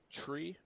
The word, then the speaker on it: tree: is that like this three is said like tree next one is going